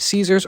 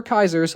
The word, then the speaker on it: Caesar: Boone is a retired NCR 1st Recon sniper with a serious grudge against Caesars or Kaiser's Legion, depending on how you want to pronounce it.